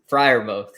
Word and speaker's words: Freiermuth: If I'm talking as a gambling man, I'm gonna go with, and I always have a struggle pronouncing his name, Parmuth. How do you say Freiermuth? Freiermuth.